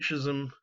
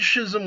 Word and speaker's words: schism: up to the Great Schism for literally centuries. But the Great Schism was basically, or schism, I guess, actually, to pronounce it properly, of 1054 is the